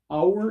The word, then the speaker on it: hour: Hour and hour, they sound identical. The only difference is the one has an H, which you don't pronounce, but you know it.